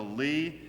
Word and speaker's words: Ly: His name is Joshua Lee. It is spelled L-Y. Don't let that confuse you if if you hear Joshua Lee.